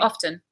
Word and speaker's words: often: what do you do often you do it some people say often off they up and they drop the T absolutely both are absolutely fine I don't know why